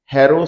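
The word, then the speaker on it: Harrow: है उसको कहते हैं हेरो साइज अब बहुत से लोग गलत प्रोनाउंस करते हैं होरो size it's नॉट होरो इट्स हेरो साइज बैट हेरो साइज की एक्जिस्टेंस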